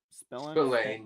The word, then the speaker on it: Spillane: Spillane, yeah, and that's how you pronounce Spillane.